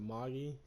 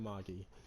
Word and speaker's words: Magi: I would pronounce it Magi because I watched The Adventure of Sinbad, and they always said Magi.